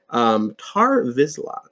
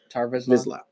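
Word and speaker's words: Tarre Vizsla: No, it was a lightsaber basically made by the first Mandalorian, and I think the only Mandalorian Jedi, Tar Vizsla, I believe is how you say his name.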